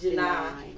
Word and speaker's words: Jeannine: If you read it, it looks like it's Jeannine, but it's pronounced Jeannine. It's called yes. Like the number 9.